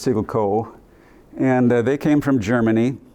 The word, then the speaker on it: Siggelkow: So it's a name that's widely mispronounced, but it's Siggelco.